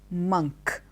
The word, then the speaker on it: monk: word is M or n K it is monk it's not a monk it is a monk